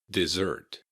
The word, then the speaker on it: dessert: dessert. Notice that the S's in dessert have a Z sound. Dessert. Dessert. You want to keep that T at the end, and the emphasis is on the second syllable.